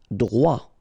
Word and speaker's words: droit: Droit. So final T not pronounced.